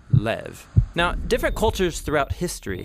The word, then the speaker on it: lev: in this prayer heart which in hebrew is sometimes pronounced lev or more often in a shorter form lev now different cultures throughout